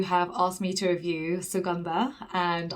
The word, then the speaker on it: Suganda: asked me to review suganda and i always pronounce it wrong my mom always tells me off because i call it shiganda it's like no i